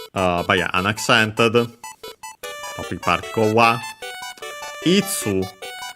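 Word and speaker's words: いつ: Itsu uh which is uh the um interrogative pronoun for when uh accent on the first moral.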